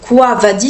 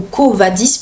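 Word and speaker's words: Quo Vadis: me souviens bien, alors je vais le prononcer à la mode latine, enfin c'est quavadis si vous préférez ou covadis plutôt.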